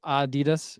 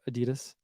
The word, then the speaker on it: Adidas: says but you know there's Adidas or Adidas uh Adidas yeah so there are different pronunciation I'm not saying that